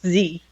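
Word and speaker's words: Tze: it's pronounced Z. Z, is it pronounced Z? Apologies, I It didn't says know. that on his bio.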